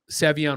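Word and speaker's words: Savion: I did not think they were going to draft Savian Williams, Savon. I've heard him pronounced both ways.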